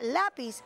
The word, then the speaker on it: lápiz: Muy bien, ¿y por qué la palabra lápiz está tildada? Bueno, porque tiene su fuerza de pronunciación en la penúltima sílaba y no termina ni en N, ni en S, ni en vocal.